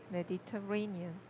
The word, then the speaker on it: Mediterranean: So Mediterranean, yeah, 4 syllables. I did not hear that. I only heard three, so I corrected it.